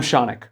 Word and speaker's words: Shaunik: I'm Shaunik, rhymes with Sonic.